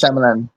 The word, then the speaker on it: Shyamalan: The correct pronunciation M. Night is Shyamalan.